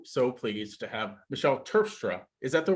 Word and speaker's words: Terpstra: I am so so pleased to have Michelle turfstra is that the right way to say your